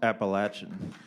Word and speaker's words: Appalachian: learn something every day I'll tell you it's pronounced Appalachian my question is it's about process for this